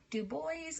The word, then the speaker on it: Du Bois: of black folks by w eb du bois du Bois I never know if I'm trying to be